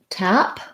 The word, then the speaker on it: tap: let's take a look tap we have our black cat vowel and voiceless p sound tap i shouldn't have